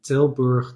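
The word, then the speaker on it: Tilburg: This was actually a game, an old game of 1994 in Tilber, the Netherlands. That's how you pronounce it.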